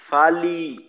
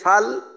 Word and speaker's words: فَلْ: জজম এর উচ্চারণটা স্পষ্ট রাখতে হবে এখানে, অনেক সময় ফালি ফালি যেখানে আছে ফাল ওইখানে হয়ে যায় ফালি, অর্থাৎ লামের জজমের পরিবর্তে একটা আংশিক জেরের উচ্চারণ হয়, মিশ্রণ হয়ে যায়, তো স্পষ্ট রাখতে হবে ফাল।